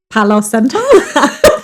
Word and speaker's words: Palo Santo: Palo Santo.